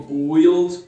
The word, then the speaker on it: build: Isso, corta aquele U da pronúncia, onde digo build ou algo assim. Só o som do I, build. To build.